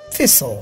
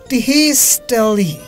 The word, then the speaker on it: thistle: Silent letter T. Tesol or whistle? Which one? Thistle, yeah.